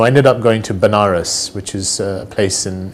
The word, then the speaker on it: Benares: So I ended up going to Benares, which is a place in India, sometimes pronounced as Vanaras, which is a place where